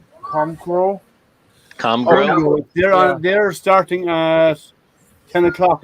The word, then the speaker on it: Comgrow: Do you go tonight to the Chrome Crow show, Liam? The what? What's it called again? I pronounced it wrong. Comgrow.